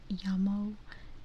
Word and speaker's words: llamo: Yeah, that's the thing about the double L's. You know, everyone says like, oh, it's just a Y, like you say it like a Y, you know, like yeah. And that's true, but you're 100% correct that in some places they pronounce it with a very soft J.